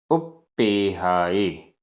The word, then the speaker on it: उप्पेहाए: उप्पेहाए आधा प पूरा प, उप्पेहाए।